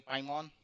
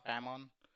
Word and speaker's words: Paimon: Now we will be discussing in this blog Apache Pimon or Pmon um depending on how you pronounce it. I like it called Apache Pimon.